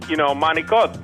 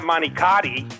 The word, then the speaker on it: manicotti: to be able to say, manicotti, not manicati, and I got to pronounce the words, right.